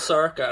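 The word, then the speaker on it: Sorcha: My daughter's called Circa, and her name is spelled S-O-R-C-H-A.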